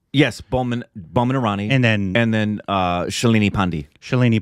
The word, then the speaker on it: Boman Irani: Ranveer Singh and Boman Irani. Is that how you say his name? Yes, Boman Irani.